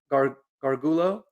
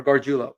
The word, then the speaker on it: Gargiulo: I mean, obviously we drafted Nick Gargulo. I hope I say that right, or Gargiulo, I think is how you actually pronounce it.